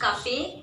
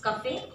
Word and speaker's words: Café: Café, it's Café.